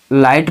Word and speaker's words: light: यदि पढ़ते तो हमें पता है कि GH से घा बनता है, GH से घा, तो हम राई घट पढ़ते वो गलत हो जाता, वो नहीं पढ़ेंगे। RIGHT को राइट पढ़ेंगे, NIGHT को नाइट पढ़ेंगे, LIGHT को लाइट पढ़ेंगे, राइट नाइट लाइट। यदि किसी भी शब्द के बीच में GH आए तो उस GH का उच्चारण हम नहीं करते दोस्तों।